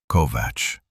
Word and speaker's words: Kovacs: "Kovacs," he said, not a question. The pronunciation was correct. Kovac, not Kovacs, which meant someone had briefed him on it, which meant this had been planned.